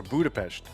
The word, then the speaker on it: Budapest: I'm trying to Is it Is it like a sh But what state is Allejo from? You pronounce the Hungarian s as sh. Okay. So Budapest Budapest.